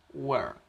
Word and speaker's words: work: decir que funciona con esta regla y lo pronunciamos work work qué significa trabajo el verbo a trabajar